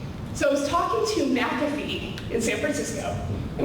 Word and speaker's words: McAfee: what is it what was it how to pronounce the company name people thought it was maffy and they knew the minute that they just did McAfee that those people were inside the fun because